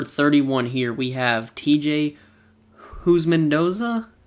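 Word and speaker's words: Houshmandzadeh: i don't know how to count and number 31 here we have tj who's mendoza i believe is how it's pronounced who's mendoza but same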